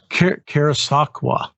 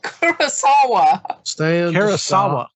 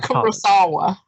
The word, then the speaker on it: Kurosawa: of coming full circle karasakwa no kurosawa what'd i say kawasaki i apologize good lord it ain't that hard to pronounce even i can pronounce it jesus it's the kurosawa the chorus i'm gonna